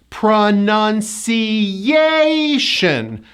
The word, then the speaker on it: pronunciation: Well, that yay is in this word. There are 5 syllables, and the 4th syllable is stressed. Pronunciation.